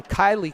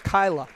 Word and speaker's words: Kyla: Carr checks back in sorry Kylie Kerr Kyla Kerr I I believe it's Kyla so I was saying it wrong and I think the